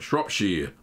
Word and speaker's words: Shropshire: The Shropshire blue that I made, or the Shropshire, whatever they want to call it, Shropshire, that's how you say it, blue that I made was very strong.